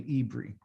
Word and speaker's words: Eber: our father from avraham his name is Eber which is really ibri okay depends on how you you know you spell it Eber e-b-e-r okay he